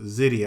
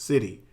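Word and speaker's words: Siddi: Now, there's a group of people that are known as, and it's pronounced Sidi. I had to research it and get the right pronunciation of it, or it's pronounced Sidi.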